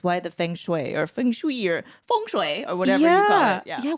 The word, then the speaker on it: feng shui: Fung Shui is it Fung Shui yeah yeah that's how we pronounce it in the Philippines its function way oh